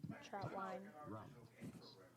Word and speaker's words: Trautwein: Mispronounced it last time. Traut- Trautwein.